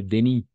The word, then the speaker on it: Denis: On va prononcer Denis. D'accord? Attention, parce que le S à la fin, c'est muet.